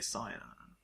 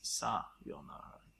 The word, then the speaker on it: sayonara: You said sayonara. Sayonara. Most people say sayonara. Sayonara. When the correct one is sayonara. Sayonara. But when you say sayo, because that's a Y sound, it makes it sound like